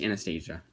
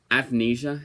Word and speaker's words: Athanasia: to keep calling this Anastasia. I know that's not how you pronounce it, but this I don't even know. Athanasia. Athanasia, but I'm going to always say Anastasia because of that Disney movie.